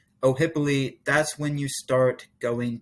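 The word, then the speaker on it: Ohiopyle: once you hit the town of o'hippoly that's how you pronounce it oh hippoly that's when you start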